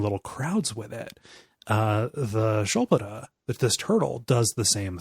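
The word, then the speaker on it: sköldpadda: And it is the Shulpada is how that's pronounced, although it looks like it should be written Skulpata.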